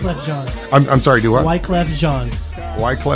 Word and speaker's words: Wyclef Jean: How do you pronounce this guy's name? Wyclef Jean.